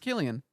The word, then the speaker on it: Cillian: It's pronounced Killian.